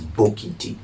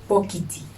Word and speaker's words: Bokiti: So bucket in TWI is Bokiti. Bokiti.